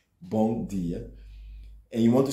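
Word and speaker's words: bom: like m in English it's pronounced as more or less n bong and you want to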